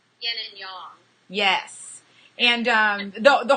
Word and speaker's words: yin and yang: to us is what a bunch of us call ying and yang the correct pronunciation is Yin and Yong yes and um the